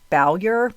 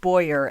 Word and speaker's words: Bowyer: thought it was pronounced Bowyer, but everywhere I've heard it, it's pronounced Boyer, and the W is silent.